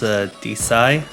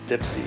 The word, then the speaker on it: dpsi: Yep, and you told me before recording that it's actually pronounced DSI. Oh yeah, well, original intent is lost, and yeah, the only one that slightly gets under my skin is Dipsy, which honestly, listen, I'm